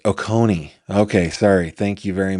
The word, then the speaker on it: Oconee: It's pronounced Oconee.